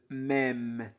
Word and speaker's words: même: régal an se prononce en dans ce même dans ce même e accent circonflexe se prononce e et e d'accord e accent circonflexe à i se prononce e mais même même même d'accord dans ce même